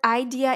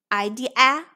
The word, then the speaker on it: idea: schwa sound for example let's break the word idea into syllable i d uh now let's try to read this word with i d a or i d a Idea Idea not sounding correct go for schwa igr idea this is a right